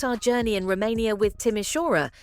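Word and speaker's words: Timișoara: Let's start our journey in Romania with Timishora, a city that most people can't even pronounce correctly. It's Tishwarra, by the way.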